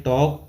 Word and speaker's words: talk: पहला वर्ड है टॉक, TALK, तो इसमें साइलेंट लेटर हो जाएगा एल, टॉक यानी बातचीत करना।